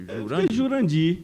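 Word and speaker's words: Jurandyr: Porque o Y dá o som de agudo, né? Jurandir. Jurandir. A pronúncia fica... Tá certo, né? Porque é Jurandir com Y, então é Jurandir. Jurandir, não é Dir.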